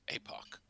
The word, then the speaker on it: epoch: So if it's spelled with epsilon, it's epoch. If it's spelled with an eta, it's apoch.